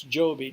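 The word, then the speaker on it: Jobi: of our grandchildren notice Joby J OB I because in the Philippines its languages from a Spanish origin and I is pronounced e so they spelled it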